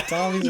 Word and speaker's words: Tommy's: Is it Amis? Yeah. Tommy's Batchbook? Yeah, it rhymes with Bommy's Batchbook, okay?